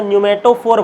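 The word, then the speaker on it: pneumatophore: िक ठीक है तो न्यूमेटोफोर बनता है क्या बनता है न्यूमेटोफोर पी साइलेंट रहता है न्यूमेटोफोर बोलते है न्यूमेटोफोर मोस्ट टाइम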